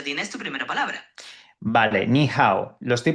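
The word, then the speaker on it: 你好: Vale, niha, lo estoy pronunciando bien. Sí, suena bastante bien. Ni se pronuncia más o menos así con un tono ligeramente descendente en ni y luego un tono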